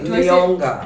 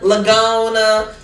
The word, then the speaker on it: Leonga: How do you say it right? Leonga. Leonga, yeah? Yes. Okay. I've heard Leonga, Lagona. What? No, disrespectful.